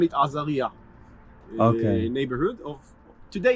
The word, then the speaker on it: Azariya: And when the Arabs came here, they called it Azariah. It's the Okay. same name, just in Arabic pronunciation. Right. Okay. So until today, they call it Azariah.